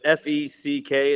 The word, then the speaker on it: feck: So is it F-E-C-K? Is that how you pronounce?